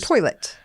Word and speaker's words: toilet: not from Kentucky please toilet we don't add an R there's no R in there yes toilet it's a toilet